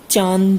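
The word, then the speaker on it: चाँदी: क्या दिया गया है चांद सी इसको क्या बोलेंगे चंद्रबिंदु के सहारे चांदी इन धूप अरविंद दिया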